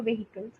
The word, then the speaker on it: vehicle: with everyone for you it's something related to vehicles to somebody else it might be something else right so it's okay the pronunciation is vehicle yeah vehicles vehicles I always